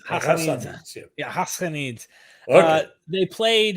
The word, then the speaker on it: Ghassanids: It's like it's not a sound you have in the English language. Yeah. But you pronounce it way deep, like the French would pronounce their Hassanids. Hassanids.